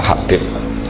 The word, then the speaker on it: Habib: Itu di harokatnya kitab itu ada yang nulis Hubab. Yang benar, yang benar itu bacanya Habib.